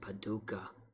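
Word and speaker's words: Paducah: does this do hey guess what it's apparently pronounced Paduka since instead of vaa who would have guess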